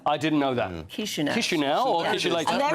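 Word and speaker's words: Chișinău: You've fallen at the first hurdle because it's not pronounced ch anything. It's Chisinau. I didn't know that. Chisinau.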